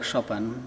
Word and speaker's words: Chopin: relationship with uh Frederic shopen because that's how we pronounce his name in Poland is very very deep